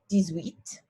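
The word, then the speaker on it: dix-huit: so really this is directly translated is 10 7 17 decept 18 is very similar di sweet 19 is also very similar dsnif and then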